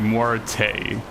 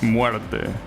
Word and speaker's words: muerte: pronounce that something like muerte, right? Like, no, that's not how you pronounce it. It's muerte, right? With a finishing e sound and not with an a, right?